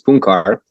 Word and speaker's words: Puncar: It was actually originally Punchar. It's like the soft C there, but it would be too hard probably to pronounce for people. So I just stick with like a regular C.